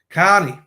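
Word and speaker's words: Kearney: on let me share the screen Carnie Aiden Carie that's how you say it car he knows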